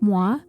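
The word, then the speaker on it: Mois: was only one, and the S is silent, so I have been calling him Detective Moi, like the French word for me.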